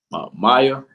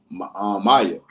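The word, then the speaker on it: Maia: Maya something like that m a i that's what that's what it's spelled like that but I think pronounced like may like Maya or something like that pronounce May yeah and what which which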